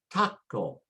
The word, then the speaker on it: taco: So for example, if I see the word taco, it ends with a vowel. And so the next to the last syllable is ta. And so I put the stress there and say taco.